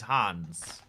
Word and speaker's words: Hans: reason hands ah yes it is Hans uh Hans Hans Zimmer whereas we'd say hands which like sounds like hands you know um I